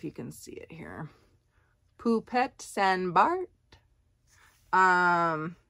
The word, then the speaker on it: Poupette St Barth: can see it here pupet San Bart um it looks like poupette St Barth but in the French pronunciation I suppose poop pet Sandbar we'll call it it's a size medium